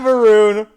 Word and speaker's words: Maroon: Pat Maroon rhymes with good old Falloon.